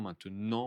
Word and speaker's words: maintenant: Attention, maintenant, on ne prononce pas le T.